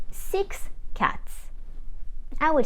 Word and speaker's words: six: silent as a result we will say SI not sis not RIT and D not this now let's practice with short sentences if I want to say six cats I would say